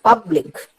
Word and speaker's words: public: പബ്ലിക്, ലിക് അങ്ങനെ അല്ല ഉച്ചരിച്ച് കേൾക്കുന്നില്ല. പബ്ലിക്, പബ് എന്നുള്ളതിനെയാണ് കൂടുതൽ ഉറക്കെ നമ്മൾ ഉച്ചരിക്കുന്നത്.